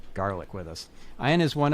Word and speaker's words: Garlic: It is, and it is garlic, just like it sounds.